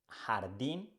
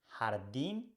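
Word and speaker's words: jardín: the next one is her her you can find this sound in words in English like law and words in Spanish like Jardin and Gente hardim and Gente is the same sound let's see the next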